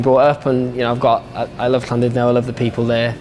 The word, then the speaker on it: Llandudno: Llandudno. So the LL's like it's a sound because it's in Welsh.